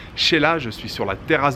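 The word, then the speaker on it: Xela: aujourd'hui 73e jour dans l'aventuré veille quetzaltenango ou sheila oui ça se prononce celle là ça s'écrit x est là mais ça se prononce sheila je suis sur la terrasse de l'hôtel gros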